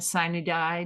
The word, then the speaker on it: sine die: I have a few more to get to before our, as we pronounce it in West Virginia, sine die date in June.